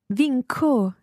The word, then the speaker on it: vinco: Vinco. So that's followed by an O, so it must be a hard C.